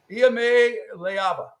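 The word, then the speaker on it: Iamaleava: No, here's how you say his name. I have it written down here phonetically. Iame Leava.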